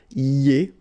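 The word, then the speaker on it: iez: Then for vous, it goes like I-E-Z, and it goes like ye, okay?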